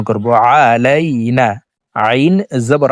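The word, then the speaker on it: عَلَيْنَا: প্রিয় দর্শক দেখুন এ আইনকে হলকের মধ্যখান থেকে উচ্চারণ করব। আলাইনা আইন জবর আ লাম ইয়া জবর আলাই নন আলিফ জবর না আলাইনা।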